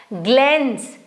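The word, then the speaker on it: glance: बैलेंस नहीं पढ़ा जाएगा ग्लेंस जी एल ए एन सी ई तो स ही बना ग्लेंस सर्टेन सी के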